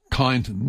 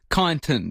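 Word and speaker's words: Kyneton: It's nothing like Kiton, but which is K Y N E T O N.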